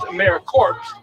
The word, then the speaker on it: AmeriCorps: word yes so it's in its if you pronounce it it's americorps but we don't want to say that so